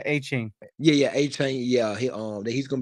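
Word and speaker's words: Achane: Dolphins, I hate they lost the running back, A-Kane. Did I say it right? Yeah, A-Chain.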